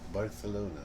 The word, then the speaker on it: Barcelona: Barcelona.